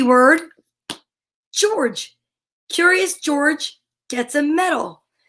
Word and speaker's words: George: is a soft c well george is the soft g it's not like hmm